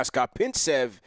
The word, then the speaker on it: Skopintsev: I made sure to pronounce this kid's last name correctly because from last year I've been butchering it. Now, Skopintsev, he's played on the Knicks Summer League team last year.